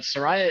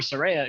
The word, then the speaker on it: Saraya: of that promo well the positives are that Soraya is or Saraya excuse me is there a name wrong everybody keep going man